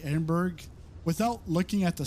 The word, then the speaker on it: Edinburgh: Maria, it's pronounced Edinburgh.